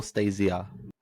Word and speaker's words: Anastacia: Is it Stacia or Stasia? Stasia. Stasia, right?